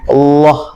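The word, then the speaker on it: الله: Jadi nempelnya itu lidahnya itu makin melebar baru Allah jadinya tebel.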